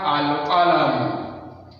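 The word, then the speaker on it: القلم: We have Al-Qalam. So Al-Qalam, you pronounce the lam.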